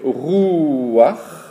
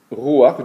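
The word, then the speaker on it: רוח: Le vent, l'esprit, c'est rouach. Rouach, donc le resh qui veut dire R, le ou, le vav qui se prononce ou, et le chet souligné avec un petit trait, rouach.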